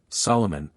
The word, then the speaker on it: Salaman: The accented vowels are to be pronounced long, as in Italian, Salaman, Absal, Shiren, etc.